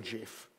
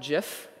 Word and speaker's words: GIF: GIF or GIF uh I know that it is supposed to be called GIF but uh I'm sorry that's something that you eat and uh GIF is how I've pronounced it since I was on the internet and uh you'll have to kill me to make me change and that's the right